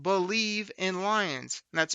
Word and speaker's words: Bleav: you about my other lions podcast it's called believe in Lions that's spelled bleav v on the believe podcasting network